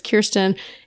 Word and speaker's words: Kirsten: And I emailed him and said, it's Kirsten. It rhymes with Bierston, which is now the thing I say everywhere because people remember that.